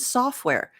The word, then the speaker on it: software: And software. Notice that I don't even pronounce the T.